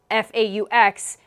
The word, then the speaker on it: faux: Thank you Per Hayes and Jeff Dean for helping me understand that it's not Fox louvers. They also told me that faux is, or F-A-U-X, pronounced as faux, is French for fake.